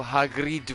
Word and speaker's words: Hagrid: believe it is of Eastern European Origins so Hagrid would be the uh correct pronunciation yes I assume you're aware what uh